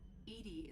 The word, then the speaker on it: EDI: are you named Ed Ed is the phonetic pronunciation of Eed that acronym for enhanced defense intelligence what do you do